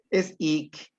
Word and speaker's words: ik: Este es ik. Es más suave. No debe sonar k.